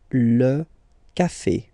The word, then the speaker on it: café: Here you get this E accent aigu and it will give you the sound E, okay? Le café.